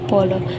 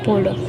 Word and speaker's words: polo: Ang pagbigkas daw ng polo ay pulo, hindi polo, dahil nakasanayan ng mga tao ay ang baybay nito ay polo, hindi pulo. Pero at ang tama daw is pulo.